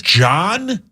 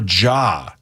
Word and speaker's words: Ja: John or Ja? I believe you can pronounce it either way.